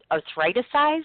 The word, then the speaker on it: Arthriticise: Now, I want you to talk about what you've created, and I tried to pronounce this earlier, so I don't want to get it wrong. It's Arthriticise, is that right?